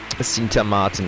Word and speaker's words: Sint Maarten: Only, we say it Martin with T-E-E-N. So teen at the end. Saint Martin. Literally. Aber das ist, Sint Maarten, ja.